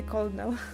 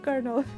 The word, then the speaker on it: colonel: Before playing that game, I had no idea how to pronounce colonel. Like colonel co o n col co o col. I would call I would actually say colo not kernel. Like where did you get R? Where is R coming from?